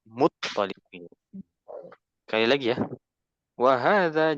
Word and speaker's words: Muttalib: Abdul Muttalib sebenarnya di bahasa Arab itu to-nya bertasydid. Ya, Abdul Muttalib. Muttalib.